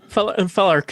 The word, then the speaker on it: Felarch: Felarch sounds good. It's like Primarch, but Corsairy.